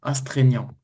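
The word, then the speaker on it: astreignant: Voilà, c'est un mot un peu bizarre mais astraignant, on prononce comme ça.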